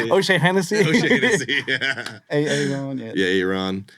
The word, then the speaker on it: O'Shaughnessy: O'Shaughnessy, or how do you say it? O'Shea Hennessy.